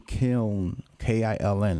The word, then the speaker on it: Kiln: Brett Favre comes from Kiln, K-I-L-N.